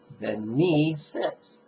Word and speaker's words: benefit: You'll emphasize the word may, and you'll emphasize the second syllable of the word benefit. So it'll be May all beings benefit.